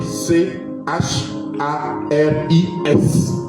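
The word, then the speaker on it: χάρις: Ça s'écrit c h a r i s.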